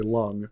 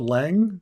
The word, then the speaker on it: Leng: So it's when I see Leng, I'm gonna say lung because that's how it's pronounced. Like uh, but I think that's why. But I guess some people call it Lang or something.